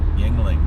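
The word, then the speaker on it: Yuengling: Yingling.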